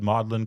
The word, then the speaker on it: Magdalen: He worked at Oxford at Mlin College. It's spelled Magdalene but apparently they pronounced it Mlin I don't know for